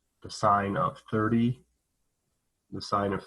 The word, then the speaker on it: sine: the sine function right it's spelled s-i-n-e the most the time when we use it we use s-i-n but we still call it sine so so is the